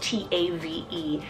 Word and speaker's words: Tave: Skies then for a short one here is Tafe spelled t-a-v-e tave now this is a great one syllable name option could totally work for a